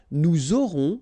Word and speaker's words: nous aurons: J'aurai, tu auras, final S not pronounced, il aura, elle aura, nous aurons, final S not pronounced, and then you make